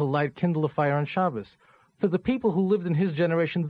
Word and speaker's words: Shabbos: grew up with this they may not even know what Shabbos is which is Sabbath that Jewish pronunciation of Sabbath just to clarify that